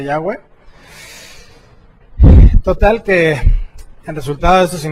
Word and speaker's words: Yahweh: contracción del nombre sagrado del Creador, que se pronuncia Yahweh.